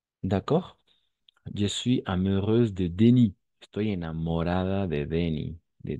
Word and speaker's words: Denis: On va prononcer Denis. D'accord? Attention, parce que le S à la fin, c'est muet.